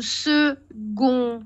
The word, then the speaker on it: second: mais ça ça s ça s'écrit avec un C mais ça se prononce avec un gu d'accord alors on réessaie